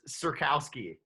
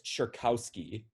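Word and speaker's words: Czerkawski: the first name um i'm just gonna say that that z is silent so marius cerkowski you got the first name right it's marius cherkowski who was the 30 goal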